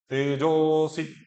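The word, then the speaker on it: तेजोऽसि: तेजो असी भी कर सकते हैं और तेजो असी और तेजोसी, ओ के बाद सीधा सी बोला हमने, बीच में अ का प्रोनाउंसिएशन नहीं करा।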